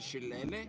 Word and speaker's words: shillelagh: I think that's actually we were talking about in the same week, so I learned how to pronounce that. It's chalet. No, you're talking about the shillelagh?